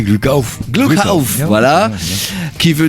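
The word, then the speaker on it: Glück auf: Aujourd'hui, ils ont proposé un album qui s'appelle Gluck auf, alors qu'on devrait prononcer, Rodolphe, comment on prononce? T'as très bien fait, c'est Gluck auf.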